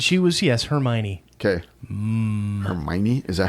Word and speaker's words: Hermione: Harry Potter kids she was yes hermy okay Hermione is that how you pronounce that that's how they pronounce it in